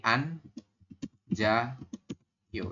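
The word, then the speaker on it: 앉아요: kalau kita latinkan menjadi an ja yo jadi pemenggalan bacanya itu anjayo ya anjayo Bisa ya yobun kemudian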